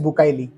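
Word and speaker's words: Bucaille: জড়িত তিনি doctor Morris বুকাইলি একজন ফরাসি ভদ্রলোক যার জন্ম 1920 সালে আর মৃত্যু 1998 সালে আসল উচ্চারণ বুকাই তিনি ছিলেন একজন মেডিকেল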